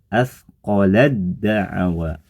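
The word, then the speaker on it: أثقلت دعوا: Cara pembacanya sama, ditulis asqolat da'awa, dibaca asqolad da'awa. Huruf ta masuk melebur digabung ke huruf dal sehingga suara ta jadi tidak nampak lagi.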